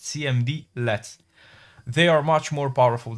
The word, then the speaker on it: cmdlet: As previously mentioned, PowerShell commands are known as cmdlets, pronounced cmdlets.